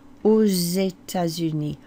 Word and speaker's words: aux États-Unis: So to the States, in the States or to the States is au, A-U-X, au. Because that begins with a vowel, you do pronounce that X as a z.